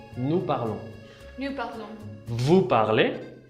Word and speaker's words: vous parlez: Vous parlez. Vous parlez. Tampoco no se pronuncia la S.